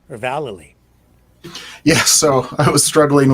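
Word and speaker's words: Vallely: mispronounce your name um I believe he confirmed that it was velli yeah Val yeah valy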